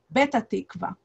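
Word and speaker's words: Petah Tikva: town but since um usually or often arabs do not pronunciate the peak letter instead they have it as a b um he says when they arrive at the airport we need to go to betatechva instead of pettarchtekwa we need to get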